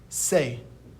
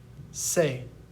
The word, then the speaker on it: ce: Now we're going to move on to C, which is pronounced se. Repeat after me. Se.